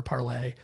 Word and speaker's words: Parler: So that was a big difference, is that you have the Gab, Vote, Parler, Parlay. We're still arguing over whether people on an alt-right site would use the French pronunciation.